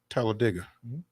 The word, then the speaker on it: Talladega: that's uh that is the actual correct pronunciation is like dig a hole Talladega but you know it's